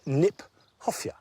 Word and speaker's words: Kniphofia: I like the fact that Kniphofia, which is an awkward word, not an easy word to say, in fact is mispronounced. We should pronounce it Kniphofia, because it was named by Johann Hieronymus Knipp.